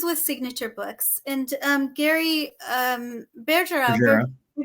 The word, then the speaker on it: Bergera: And Gary Bergera, I call him Bergera because he was my teacher in the MTC and he taught me French and he was Elder Bergera. So the French pronunciation.